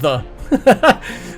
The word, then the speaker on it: ye: norse thorne um rune which basically means th and it's pronounced th so that ye oldie tavern is just the old tavern it's it's like it's pronounced the so it's kind of